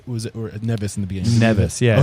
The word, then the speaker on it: Neves: I think I said neas was it or nevas in the beginning Nev yeah the way I WR to say is it's the number seven spelled backwards and pronounced backwards also pronounced backwards it's